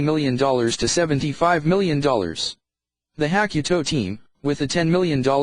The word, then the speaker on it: Hakuto: "We think that we can beat them on the moon," said Takashi Hakimata, the leader of Hakuto, pronounced Hakuto.